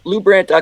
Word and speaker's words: LuBrant: it again slower lebrandt calm lu b ra NT I once said to many years ago how do you pronounce your last name he goes rhymes with blue grant those of you who